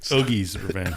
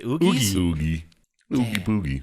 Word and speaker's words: Oogie Boogie: was a 17 sorry Hoagies all right okay do I keep saying it wrong every time what do I say Oogie Boogie it doesn't matter Oogie Oogie's why I don't it's like boogie man I don't need to